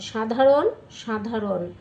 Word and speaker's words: সাধারণ: তালবর্ষ বর্ণের দন্তস্য উচ্চারণ শ্রমিক শ্রমিক শ্রীগাল শ্রীগাল মূর্ধন্য মূর্ধন্য স বর্ণের তালবর্ষ উচ্চারণ ভাষা ভাষা 16 দন্তস বর্ণের তালবর্ষ উচ্চারণ সাধারণ সাধারণ সামান্য সামান্য দন্তস বর্ণের দন্তস উচ্চারণ আস্তে আস্তে